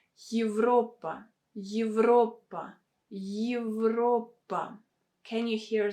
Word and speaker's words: евро: Here you have the sound Y that comes in the beginning, because this letter Y stands in the beginning of a word. That is why we should pronounce it with a combination of sounds Y and E.